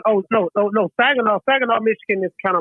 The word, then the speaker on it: Saginaw: Look, it's he's from Saginaw, if that's how you pronounce it. Oh, Saginaw. Oh no, Saginaw.